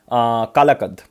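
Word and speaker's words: Kalakad: और एक tiger reserve मिलेगा कालाकद और कलाकद, कैसी भी तरह से इसको प्रोनाउंस कर सकते हो, कलाकद टाइगर रिजर्व, तो ये भी आपको तमिलनाडु।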